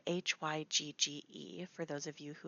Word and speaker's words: hygge: It's spelled Hygge for those of you who have not seen it in writing.